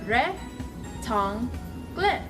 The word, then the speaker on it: rectangle: So rectangle is rhect-angh-le.